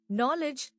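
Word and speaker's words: knowledge: Options है नॉलेज नॉलेज नॉलेज नॉलेज। यह silent letter वाला वर्ड है। के साइलेंट है।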